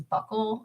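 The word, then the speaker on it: buccal: i don't know why this is buckle like b-u-c-c-a-l but it is like i'm i'm pretty sure that's how you say it uh relating to the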